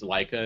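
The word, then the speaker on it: Laika: looks really good uhhuh mainly because it's it's Leica is that how you pronounced it yeah and they they I love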